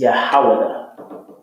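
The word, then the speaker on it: יהודה: How you say Judah in the Hebrew is Yahawada.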